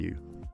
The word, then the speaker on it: Kaeo: Wat Phra Kaeo is said Wat Phra Kaeo Don Kaeo where that last syllable rhymes with the word queue.